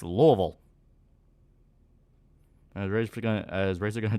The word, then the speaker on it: Louisville: angry when people pronounce Louisville wrong it is always hilarious when someone tries to correct me and go like oh it's not Louisville it's Lewisville and I'm like what the [ __